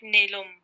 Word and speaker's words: Neelam: In normal English, it's Neelam, and Germans call it Nelum. Okay, now we keep it normal then. Because they pronounce A to E.